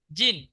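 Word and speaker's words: 人: কি হয়েছে জি তার সঙ্গে ন তাহলে কি উচ্চারণ হবে জিন জিন শব্দের অর্থ জিন কোন দেশের নামের পরে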